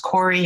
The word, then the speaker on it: Koury: n dot k o u r y it's pronounced cory i know it's scary sometimes to look at